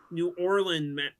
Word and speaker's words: New Orleans: It seemed more like Norins to me, but I guess I guess Vegas theoretically could. We're going waxy. We're going to New Orleans. It's pronounced nor New Orleans.